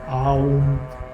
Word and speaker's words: Aum: There are three syllables to it: A, U, Om, Aum, and those three syllables are the third dimension.